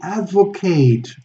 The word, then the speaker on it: advocate: for blah blah blah they advocate a noun or to advocate and that's when we do the a the diphthong a advocate he advocates a return